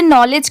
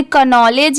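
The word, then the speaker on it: knowledge: भी कंफ्यूजन होगा कि इसे नॉलेज क्यों पढ़ेंगे? क्योंकि यहां पर तो के दिया हुआ है स्टार्टिंग में। इसे कनॉलेज या केनॉलेज भी पढ़ सकते हैं। बट नहीं यहां पर के लेटर साइलेंट है। इसे सिर्फ इतना पढ़ा जा रहा है। एन ओ डब्ल्यू एल ए डी जी ई इसकी साउंड मतलब इसे सिर्फ प्रोनाउंस इतना ही किया जा रहा है और के साइलेंट है।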